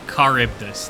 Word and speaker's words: Charybdis: Okay, Charybdis. That's how you pronounce that.